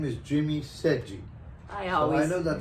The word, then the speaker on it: Sedghi: i was saying that my name is jimmy seji i also i know that it's a little difficult to pronounce it but anyway i'm jimmy sergi jimmy